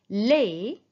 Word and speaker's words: laid: Les. Vous voyez ici, on écrit le D, mais on ne prononce pas.